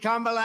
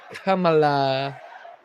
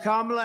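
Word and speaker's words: Kamala: it right that time he said it right that time he knows how to America great again and it's going to happen fast he has to think about how to say it wrong that's why he says comea in less than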